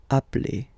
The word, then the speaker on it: appelle: So when you get this e vowel, and then you get a double consonant, and well, they are the same, then it does change the pronunciation of e. You tend to pronounce it like really open. That's the reason why you pronounce it appel.